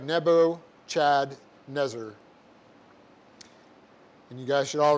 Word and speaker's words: Nebuchadnezzar: e z z a so it looks like nebo chad nezer and you guys should all remember this one